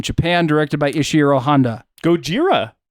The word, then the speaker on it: Gojira: Gojira, I believe, is what they call that one. Yeah, that's how they say it in Japanese.